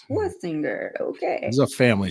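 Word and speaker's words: Schwesinger: I want to swinger him, but it's Schwestinger.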